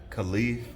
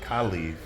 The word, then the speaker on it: Caliph: Because as Caliph talks about his father and how the world perceives what he's done, starts at the top.